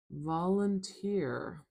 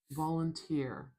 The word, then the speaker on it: volunteer: Volunteer. Volunteer. Volunteer.